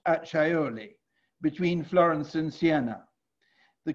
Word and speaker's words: Acciaioli: buying in your name the castle of Acciaioli, pronounced Acciaioli, between Florence and Siena.